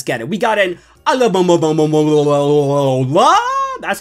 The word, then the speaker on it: Alola: We got an Alola.